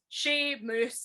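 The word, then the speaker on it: Seumas: ew no bob um it's spelled s-e-u-m-a-s in gaelic yes so like shameless the fact that he's she moose it's like it's just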